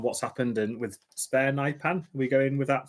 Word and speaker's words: Nypan: Um Nipan definitely Nipan.